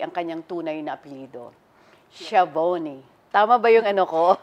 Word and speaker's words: Schiavone: Schiavone. Tama ba yung ano ko? Schiavone. Ah, so yun ang correct. Yung C-H... Schiavone.